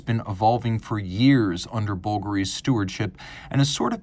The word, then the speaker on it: Bvlgari: And please, I cannot overemphasize for those of you who are still wondering, it's pronounced Bvlgari.